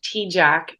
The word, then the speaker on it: Tejcek: name is very tricky it's pronounced t-jack but it's not spelled like that so um on Instagram